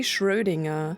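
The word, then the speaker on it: Schrödinger: How do you say it in English? Schroinger. But we say shrodinger.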